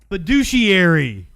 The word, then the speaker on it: fiduciary: Fiduciary. That's really how it's said. Tones gave me a correct pronunciation.